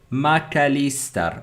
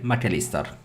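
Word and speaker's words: Mac Allister: notice um Spartans okay it's macalister okay McAllister I don't think I was far away from from that but thank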